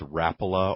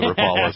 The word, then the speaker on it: Rapala: Rapala or Rapala, depending on which side of the room you're sitting on in here.